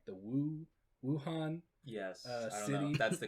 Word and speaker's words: Wuhan: and i believe it is like the woo wuhan yes that's the correct pronunciation it's the w-u-h-a-n right i mean aside